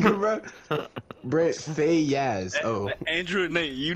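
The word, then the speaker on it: Brent Faiyaz: It's Brent Fayez.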